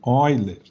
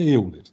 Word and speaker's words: Euler: seria número de Euler, mas em português seria Euler, tá? Então, eu não vou brigar com questão de semântica, eu vou falar Euler, tá, pessoal? Mas saibam que se escreve Euler.